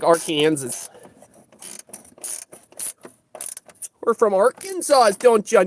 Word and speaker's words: Arkansas: Arkansas. Gotta say it like Arkansas.